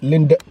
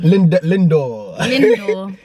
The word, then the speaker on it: Lindor: Some Linda. Yeah, we got Let me show you them. Lindor. I even pronounced it wrong.